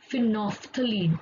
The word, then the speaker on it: phenolphthalein: So there is a special indicator that is called phenolphthalein. Let us pronounce properly, phenolphthalein, and this is acid base indicator, and what it will do, let us see that.